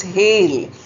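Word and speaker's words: hale: Spelling is different, meaning is different but pronunciation is the same.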